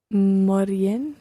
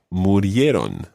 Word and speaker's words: murieron: Morien. Is that how you say it? Not quite. The verb is morir, and it would be he died, murió. So they died would be Murieron.